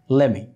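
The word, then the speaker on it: let me: এটাকে আপনি যদি লেট মি বলেন কোনো সমস্যা নাই, হবে লেট মি, কিন্তু স্পোকেন ইংলিশে সাধারণত এত আপনার ভেঙে ভেঙে উচ্চারণ করা হয় না। স্পোকেন ইংলিশে সাধারণত বলা হয় লেমি, লেমি।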